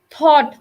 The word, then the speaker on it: thought: don't even pronounce gh thought thought is not even pronounced yet anything like